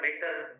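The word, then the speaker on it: mater: उसे हम कहते पा मेटर कते मीटर नहीं है मेटर एटी आर ए डटी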